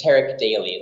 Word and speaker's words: Terik Daly: opportunity I'm speaking to Tariq Dali if that is pronounced correctly I'm sorry if it's not oh no problem it's Tarik daily like Eric with the T and something you do every day great Tarik my name